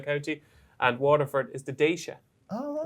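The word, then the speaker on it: Déise: I was calling it Dees Abba, and I got a mate who's Irish, right? And he sends me the pronunciations of everyone I get wrong when he listens to the podcast. It's the nickname for Waterford. Daisha.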